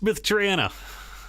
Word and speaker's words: Myth Drannor: I think it's Myth Drannor, isn't it? Technically Myth Drannor. Is it? Uh. Yeah. So it's like Bostonian, it's Myth Dranna.